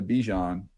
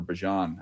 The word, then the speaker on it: Bijan: But, man, look, to me, he is in the Bijan, or Bijan, as we're pronouncing it now, the Bijan category.